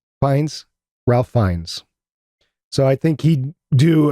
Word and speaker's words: Fiennes: I can never pronounce his last name right. Is it Fiennes? Fiennes. Fiennes? Ralph Fiennes.